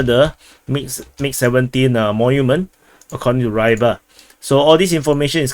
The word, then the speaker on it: Ryba: I like to call them Ryba. I know the actual pronunciation is Ryba. So yeah, that's Russian and Ukrainian way of pronouncing it, but yeah, I'm pronouncing it as English.